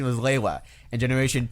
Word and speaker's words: Lewa: In Generation 1, the canon pronunciation was Lewa. In Generation 2, the canon pronunciation was Liwa.